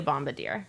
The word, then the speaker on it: bombardier: We absolutely can, but I'm going to choose not to be a bombardier.